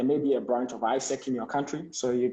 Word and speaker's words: AIESEC: How do you spell that ISEC?